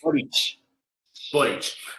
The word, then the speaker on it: Boric: Bueno, ya que con esto podemos, en realidad, el motivo de esta charla es, ¿cómo se le pronuncia? Boris o Boric. Boric.